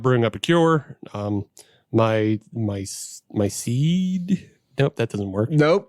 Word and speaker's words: Ceed: Because it's spelled CEED. We don't have closed captioning. I know, but that's why I'm saying it out loud for the people. It's CEED. Seed.